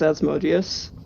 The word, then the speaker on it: Asmodeus: Have I been saying it wrong? It's Asmodeus.